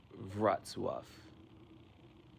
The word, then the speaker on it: Wrocław: You know how that's pronounced? I forgot to add it in my video. Wrocław.